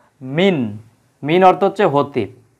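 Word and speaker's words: مِنَ: কিন্তু এই জায়গায় দেখতে পাচ্ছি কি আমরা লেখা মিনা মিনা হ্যাঁ এই জায়গায় ছিল মিন নুন সাকিন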